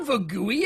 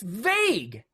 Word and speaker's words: vague: They said, it's not vagui, it's vague.